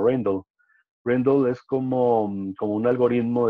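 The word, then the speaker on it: Rijndael: Por eso seleccionaron a ese otro algoritmo, que en inglés lo pronuncian como Rendell.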